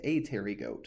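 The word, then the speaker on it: Apterygota: a Terry goat and if it is a wingless insect it is that a Terry goat so that P is silent but that's your gonna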